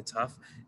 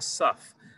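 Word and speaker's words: ת: a dot inside the tough then it's pronounced tough and if it doesn't the ashkenazi tradition is to pronounce it as a s sound like a suf and that's a different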